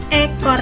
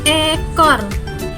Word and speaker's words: ekor: Yang pertama, ekor itu panjang, menggunakan italing, bunyinya tegas dan jelas, ekor.